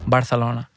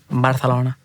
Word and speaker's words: Barcelona: Barcelona you should be saying it correctly it's Barcelona Barcelona next comment my pet listen you know how